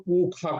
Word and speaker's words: पूषा: है स्वस्ति हाँ न पूषा, तो उसका उच्चारण पंडित लोग पूखा करते हैं।